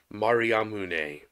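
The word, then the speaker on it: Mariamne: english one yes but in greek it's maria mooney sounds japanese actually but yes he was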